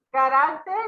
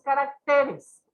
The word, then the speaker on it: caracteres: Hay que considerar que hay palabras que al pasar en el plural cambia la posición de su sílaba tónica, ¿sí? Carácter, cuando está en singular, es una palabra grave, pero se mueve esa sílaba tónica al pluralizar y tenemos caracteres. Sigue siendo palabra grave, pero se movió la sílaba, ¿sí?